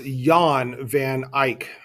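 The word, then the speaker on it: Jan van Eyck: the name is pronounced Yan van Ike the J is pronounced with a Y Yan vanike all right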